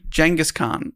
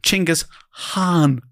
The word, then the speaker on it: Genghis Khan: They call him Genghis Khan.